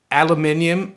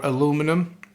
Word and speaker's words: aluminium: Aluminium or aluminum, depending where you are and how you pronounce it.